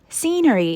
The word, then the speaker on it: scenery: Note that scenery is pronounced scenery.